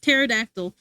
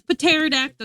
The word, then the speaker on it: pterodactyl: The P is there for no reason. Who says pterodactyl?